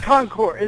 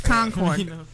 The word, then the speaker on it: Concord: Oh, Concore. Nevada. It's Vegas. New Hampshire is pronounced conino. It's Concord.